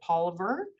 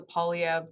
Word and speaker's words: Poilievre: And he originally, and this goes way back to my time, pronounced it Poliver and did flip to the Polyev pronunciation a little bit later.